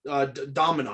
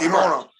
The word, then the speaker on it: Demona: And then I recently did a video on Bronx and Damona. Domina. I always say her name wrong. But Demona. Demona, thank you.